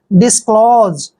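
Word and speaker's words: disclose: से पहले ओ आता है तो एस का उच्चारण ज करते हैं डिस्क्लोज डिस्क्लोज डिस्क्लोज होते है स्पष्ट करना या फिर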